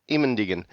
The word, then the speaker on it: Immendingen: Immendingen, because I did we'll talk about it a